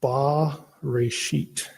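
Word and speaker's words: בראשית: In the beginning, I would use that little mark that looks like a capital T, and it would be pronounced ba reshit.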